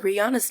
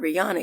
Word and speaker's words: Rihanna: Rihanna's name is not Rihanna, it's Rihanna.